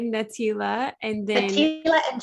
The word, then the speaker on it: Natelia: Yes, you're saying my name right, Natelia, and then Natelia and Jens.